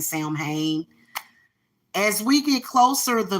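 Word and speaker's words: Samhain: we get towards Sam Sam Wing it's actually sound ween okay Sam Wayne is how you pronounce sound pain but I like saying Sam Hayne as we get closer the veil gets thinner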